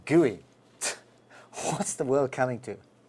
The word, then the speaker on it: GUI: Can you believe the collective name for all this is the Graphical User Interface, or GUI, pronounced GUI?